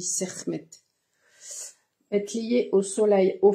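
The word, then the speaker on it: Sekhmet: chem est lié alors je sais pas si la plupart du temps on dit chckm mais je crois que dans la prononciation exacte ça se dit sermmet être lié au soleil au feu lui-même.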